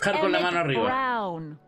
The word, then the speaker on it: Emmett Brown: That's Emmett Brown. Rhymes with clown.